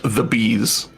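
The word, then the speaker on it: Thebes: coolest like carac or thees thees Longos hello fees you probably don't pronounce the second e that makes sense my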